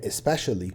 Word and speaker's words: especially: وبالنسبة للكلمة التانية اللي هي especially واتفقنا هنبين فيها نطق حرف الإي، معناها بالذات إن أنت عندك كذا أوبشن وبتهايلايت حاجة منهم أو بتحدد حاجة فيهم إن هي بشكل خاص.